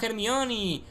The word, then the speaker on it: Hermione: en este caso hermione muchos sois de mexico y me dice siempre no se llama el mío se llama hair mioni y en españa se dice el millón no se dice hermione y os lo digo